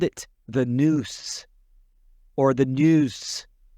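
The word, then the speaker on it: nous: they called it the news or the news it's it's spelled a couple different ways n or n u but it's it's pronunciate as news almost sounds like dudes right y or what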